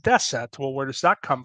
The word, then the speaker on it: deset: Romanian nine is pronounced DEET and ten is pronounced deset well where does that come from that comes